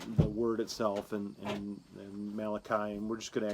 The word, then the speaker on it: Malachi: by the way that malachi was the first italian prophet and then you say the name wrong you say it melachy right sounds like sounds